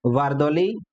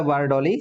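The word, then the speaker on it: बारदोली: फिर आता है वारदौली या वारडोली सत्याग्रह। तो प्रोनाउंसिएशन कुछ अलग हो सकते हैं। लेकिन बाकी क्या बोलाएंगे आप? द को द बारदौली सत्याग्रह।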